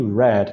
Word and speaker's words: read: A pronúncia agora fica read. Ok? Então, é read no presente e red, que nem a cor vermelho, é assim que fica no passado.